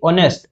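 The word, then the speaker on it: honest: article N বসিয়ে পড়িবো দেখা যাও কনসোনেন্ট বলে কিন্তু উচ্চারণ ভাওয়েল আসছে পাই আর্টিকেল এন বসিব এটি অনেস্ট ও ভাওয়েল উচ্চারণ আসুচি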